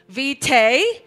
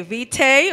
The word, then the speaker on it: vitae: cv means cv curriculum vitae or all right both pronunciation are okay vitae or vitae if you're